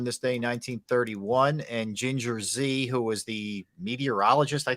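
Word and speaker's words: Ginger Zee: I think it's Ginger Z, isn't it? I'm not disputing it, but it's spelled G-E-E.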